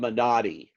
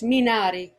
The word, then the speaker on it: Minari: it's stephen young and it's called menadi it's not like this it's me it's minari it almost sounds italian it does and you